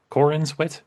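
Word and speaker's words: Corenswet: looked at by James Gunn and by David Cornsweet. Is that it? Cornswet.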